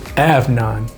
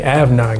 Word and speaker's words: Afnan: Avan. Excuse me. Avan. Got to pronounce it right.